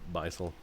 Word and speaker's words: Beisel: Beisel. Yeah. Or is how I would pronounce it. It's spelled like Bissell, the Bissell vacuum cleaner.